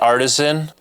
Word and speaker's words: Artisan: Artisan?